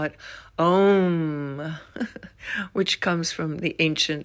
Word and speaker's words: Om: They actually recorded Om, which is pronounced more correctly, Aum.